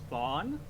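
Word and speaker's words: Thawne: get his name wrong i believe it's pronounced thon that's his name he is he is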